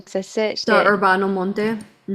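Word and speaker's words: Urbano Monte: Orbano Monte.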